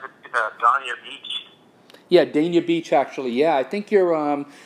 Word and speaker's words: Dania Beach: We're coming to, how do you pronounce it, Dania Beach. Yeah, Dania Beach, actually.